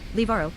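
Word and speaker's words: Livarot: Liberat French pronunciation liaro is a former commune in the Calvados department in the Normandy region in northwestern France on January 1st 2016.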